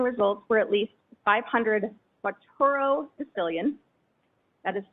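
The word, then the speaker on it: quattuordecillion: and those typing results were at least 500 facturo sicilian that is spelled q u a t t u o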